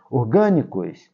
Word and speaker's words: orgânico: Orgânicos, olha, é uma palavra proparoxítona, tá vendo? Ó? É a antepenúltima sílaba, que é a sílaba forte, orgânico, ela deve ser acentuada por isso.